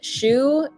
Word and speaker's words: Chou: My cat's name is Chou, but it's spelled C-H-O-U, like petit chou, like little cabbage, or chou à la crème, but that's C-H-O-U-X. Not shoe as in the thing you put on your foot.